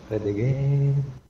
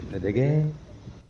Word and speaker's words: Fred again: È così, Fred Again, però non troppo lungo, no, Fred Again, sennò sarebbero tre puntini, invece Fred Again.